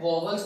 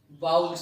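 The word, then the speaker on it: vowels: वॉवल्स नहीं है, वाउल्स है, ठीक है।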